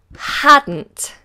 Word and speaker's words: hadn't: we have the contraction hadn't hadn't and this short for had not hadn't hadn't hadn't the D and the N become the same sound hadn't hadn't hadn't